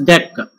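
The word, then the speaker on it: deque: It is pronounced as DEC. It's not DQ, it's pronounced as DEC.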